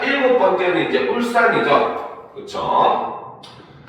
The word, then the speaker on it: 울산: 자, 일곱 번째는 이제 울산이죠. 그렇죠? 자, 일곱 번째는 울산이라고 쓰지만 읽을 때는 울산 요렇게 일죠. 즉 여기서는 바로 뭐다? 된 소리 되기.